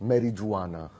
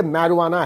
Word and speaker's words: marijuana: मैरीज जुआना। पक्का किसी ने एच से हाय होकर इसकी स्पेलिंग लिखी होगी। लेकिन यह मैरवाना है क्या?